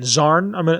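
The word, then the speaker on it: Xarn: these death claws can speak goros zarn x-a-r-n zarn that's how I'm gonna pronounce it um they can speak and the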